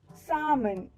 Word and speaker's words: salmon: The L to this word remains silent. Salmon.